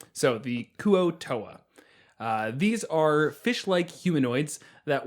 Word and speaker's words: Kuo-Toa: This week's monsters are the Kuo-Toa. Oh, I'm sorry, the Kuo-Toa? Kevin, help me out here. Yeah, Kuo-Toa.